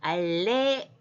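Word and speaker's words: עָלֶיךָ: 그 다음에 알레 할 때 옆에 짧은 거는 그걸 약간 끊어서 발음할 뿐만 아니라 거기에 액센트가 있어요. 그래서 알레카.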